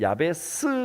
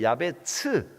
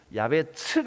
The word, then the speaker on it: 야베스: 축복이 될지 하라 항거를 번역에는 야 베 스 라고 되어있죠 원래 발음은 이제 야베 츠 야베 측 아 좀 더 가까운 발음입니다 고통 이라는 단어의 앞